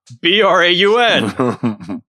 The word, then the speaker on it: Braun: This is why it should be pronounced Braun, Braun.